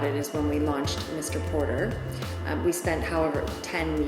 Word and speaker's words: Mr Porter: everyone started calling it Mr Porte and we had to explain no no no it's not a pte it's Mr Porter and our magazine is